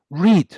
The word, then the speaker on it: read: El verbo read se escribe los 3 iguales, pero es read, read, read. ¿Has visto? Read, read, read. Se pronuncia como el rojo. El pasado es como el color rojo.